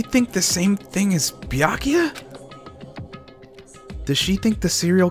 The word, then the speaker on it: Byakuya: moments what do you want backa it's byakuya I was saying it right I'm I'm sorry